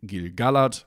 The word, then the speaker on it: Gil-galad: It has to be Barad-dûr, and that means we analyze each part separately, and that means it also has to be Gil-galad, and that's what the tool does, although I think you're free to disagree if you want to.